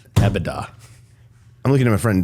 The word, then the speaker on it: EBITDA: EBITDA.